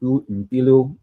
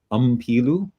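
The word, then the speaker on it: Mpilo: He says most commonly English speakers mispronounce it by stressing that for the first M, and I'm not sure what the right word for it is, and saying Pilu. But in fact, the right way to pronounce it is to have your mouth closed, like you've just eaten well, he didn't say this. I internalized it. Like you've just eaten a chocolate chip cookie that was fresh out of the oven.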